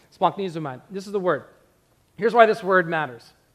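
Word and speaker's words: σπλαγχνίζομαι: Here's how you pronounce it. Splanknizomai.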